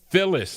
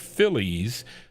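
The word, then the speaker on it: Philles: Phyllis, not Phillies, Phil is how you pronounce it.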